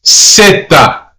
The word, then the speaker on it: zeta: Now, Z has 2 pronunciations. The letter Z has seta. Seta. So it's pronounced S-E-T-A. Seta. The letter is also pronounced as an S.